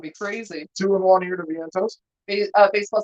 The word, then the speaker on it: Vientos: Mark Vientosis, or excuse me, I'm pronouncing his name wrong.